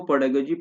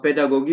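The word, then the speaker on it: pedagogy: पेडागोजी मतलब कि ये जो तालीमी तदरीस होती है, आप जो मतलब पढ़ाएंगे बच्चे को, पेडागोजी पेडागोजी है। ये इसको पेडागोगी भी कोई पढ़ते हैं, कोई पेडागोजी पढ़ते हैं, तो अलग अलग जिसके जो अपने प्रोनाउंसिएशन होते हैं उस तरीके से ये पढ़ लेते हैं।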